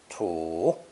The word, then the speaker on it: 土: This character is pronounced third tone. Tu, tu.